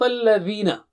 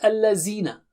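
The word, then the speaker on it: الذين: Sirata, Sirata, Sirata, Sirata, Sirat al-Ladhina. It is not al-Lazina. You have to put the tip of the tongue to the edge of upper teeth.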